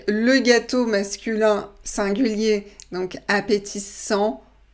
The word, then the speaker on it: appétissant: Donc, le gâteau masculin singulier, donc appétissant, on ne prononce pas le T.